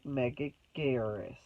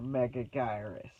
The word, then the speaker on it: Megaguirus: And then several decades later, in 2001, happens Godzilla vs. Megaguirus, or Megagyrus, however you want to pronounce it.